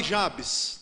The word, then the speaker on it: Jabes: Mas chamarei Jabes, tá certo? Que aí já é um pouco pendente mais para o grego e para o inglês, com aquela sílaba mais forte que a gente está mais acostumado.